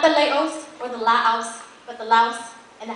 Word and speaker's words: Laos: you bring out the Laos from the house oh or ask as you learn to say because there's no s in the proper pronunciation um let me just